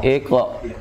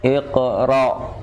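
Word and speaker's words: اقرأ: Jadi iqra. Iqra. Ra-nya tebal. Ra. Nah, ini kalau enggak kita kontrol, ya. Ini akan terlalu menekan hamzahnya sehingga jatuh pada makhraj ain. Iqra. Jadi gitu ya bacanya. Iqra. Ra. Jangan ra. Nah, agak terlalu dalam, terlalu nekan jadi ain.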